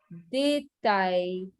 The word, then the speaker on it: détail: and the pronunciation is étudiant, détail, épluché. Okay, so A is the pronunciation.